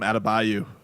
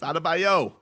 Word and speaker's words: Adebayo: Texter writes in, Amber used to call him Adebayo. Mine of the extra syllable. I remember. It used to, me and Slim would be like, come on, it's Adebayo.